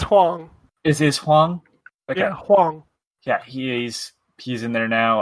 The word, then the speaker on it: Hwang: I don't know how to pronounce his name. Huang? Yeah. Hwang. Oh, then it's Huang. Is Huang? Okay. Yeah, Huang.